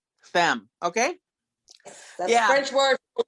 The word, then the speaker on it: femme: you and i have to tell you it's pronounced soulful femme femme okay yeah french word for women yeah exactly